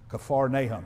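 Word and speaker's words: Capernaum: is the word uh in the Hebrew or in the Greek it would be pronounced a little bit closer to kaar nahm kafar naham and actually what that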